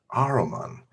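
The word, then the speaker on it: Ahriman: heard that name before ah roman it rhymes with hanuman it's funky god of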